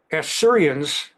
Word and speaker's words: Assyria: That era, the Assyrians, it's actually pronounced Assyria, but I emphasize the short A.